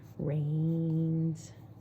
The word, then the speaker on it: rains: e it i t reigns that's two vowels walking the first does the talking or snows and the